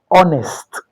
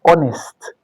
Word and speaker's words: honest: Now, honest honest begins with an H, but the H is silent.